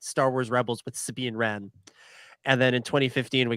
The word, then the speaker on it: Wren: Wars Rebels with Sabine Wren. And then in 2015 we got The Force Awakens with Kylo Ren, spelled differently but pronounced the same.